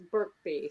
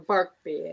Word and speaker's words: Birkby: Well, his last name is Birkby, so or Barkby, as I said.